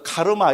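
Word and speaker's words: karma: 원어로는 산스크리트로는 깜마고, 빨리어로는 깜마고, 산스크리트로는 까르마 그럽니다. 우리 까르마라 해서 세상에서도 널리 지금 통용되고, 영어 사전에도 다 나온 겁니다. 그죠? 한국에서는 그냥 영어식으로 해서 카르마 이랍니다. 그죠? 근데 이거를 이제 인도식으로 발음하면 까르마가 돼야 됩니다.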